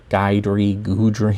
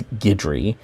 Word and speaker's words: Guidry: It's some people call it Guidry or Gudry. I think it's Gidry. It's it might be Guidry, but I think it's Gidry. It's a French name, a France name, because